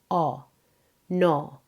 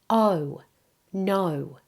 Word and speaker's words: no: This vowel is a double vowel. Many non-native speakers make it more like o, no. It should be oh, no.